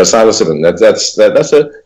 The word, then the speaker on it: psilocybin: a trip on mushrooms, psilocybin, or however you pronounce it. Yeah, psilocybin.